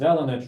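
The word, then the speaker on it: Delaunay: triangulation, which is called Delana triangulation. And it is spelled differently, but that's the same person. Right, so that's Delana triangulation, that's the same person, but it's Delana.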